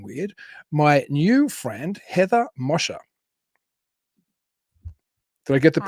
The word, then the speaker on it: Moser: So I'm delighted to welcome to Talking Weird my new friend, Heather Moser. Did I get the Hi. pronunciation right? Hey. I say Moser.